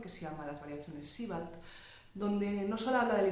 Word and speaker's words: Sebald: Winfried Georg Siebald, tal y como se pronuncia más o menos en alemán, fue un escritor de